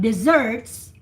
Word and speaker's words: dessert: for sahara desert but desserts deserts the the the accent the emphasis is in the second solo desserts dessert do you